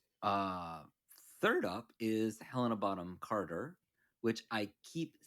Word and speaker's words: Bonham: Just Bonham. Yeah. Bonham. You don't really say The the H H. is silent. Yeah. In most like British things, you don't say the H.